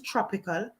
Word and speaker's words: Trapycal: His name is Tropical. It's spelled Tropical, Trapycal.